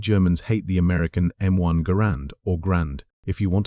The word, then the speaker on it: Garand: Why did Germans hate the American M1 Garand or Grand if you want to start a fight in the comments? The man who designed the rifle pronounced it Garand, so that's what we're going with.